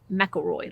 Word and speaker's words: McElroy: Now the way it's pronounced, apparently I've been told by many viewers, is it's McElroy, Lady McElroy fabric.